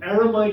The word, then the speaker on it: eremite: Eremite is not. But eremite does rhyme with night. So that's good. Eremite is 3 syllables, but he manages to get the rhyme.